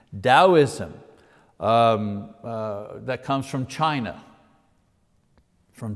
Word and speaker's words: Taoism: is taoism you know you pronounce the t like a d taoism that comes from china